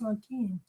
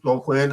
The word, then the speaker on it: Joaquin: It's Joaquin. Well, Joaquin, Joe Quinn. That's how you pronounce it. I'm pronouncing it the old professional wrestling way.